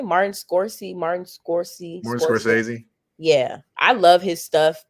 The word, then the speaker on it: Martin Scorsese: Martin Scorsese.